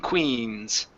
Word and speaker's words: queens: Give me that e still. Raise the tongue up. Que. Key. Queens. It's kings and queens.